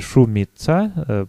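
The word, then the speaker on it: Șumița: Это шумица, по-румынски тоже так же произносится, просто это особенности румынской орфографии. Вот это вот «Т» с крючочком произносится как «Ц», и «С» с крючочком произносится как «Ш».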